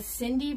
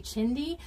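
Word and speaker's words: chindi: I was calling it a Cindy rug, C-H-I-N-D-I, but it's actually Chindy. A Chindy rug is how you say it.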